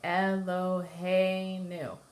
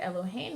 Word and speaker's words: Elohim: you would use so the example I like to use for this as L oh hey new right ello hey new the second the last accent or second the last syllable is accented so when we would